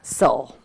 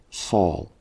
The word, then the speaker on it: Saul: highly of your name soul that's how it's pronounced right so just like paul i see soul though